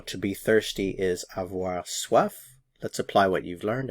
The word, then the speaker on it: soif: Notice the pronunciation, soif, soif.